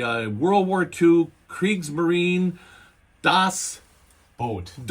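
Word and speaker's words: Das Boot: an otherwise great documentary about the making of Dosboat and the American kid who put it together just drove me crazy. I mean, I was pulling my hair out and you know, because he kept saying dust boot, dust boot, dust boot, dust boot.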